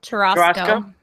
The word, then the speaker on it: churrasco: Churrasco? It's like a churro and a Costco. Churrasco.